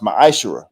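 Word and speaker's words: מעשר: 18:21 and Malachi 38-10 means 10th in Hebrew and is pronounced maish 10% of every penny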